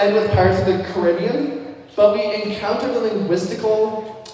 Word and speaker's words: Caribbean: with Pirates of the Caribbean, but we encounter the linguistical research topic for you guys. I've always said Pirates of the Caribbean, but when you go visit the Caribbean, you pronounce it differently.